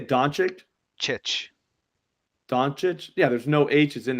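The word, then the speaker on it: Dončić: name donic how do you say donic chit donic yeah there's no hes in there at all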